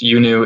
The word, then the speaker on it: iUNU: in 2013 we founded yunu pronounced yunu it's iunu it's the ancient egyptian